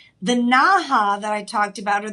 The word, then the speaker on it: naja: the naha that I talked about or the naja I say ha because j in Spanish is pronounced with an h but the large uh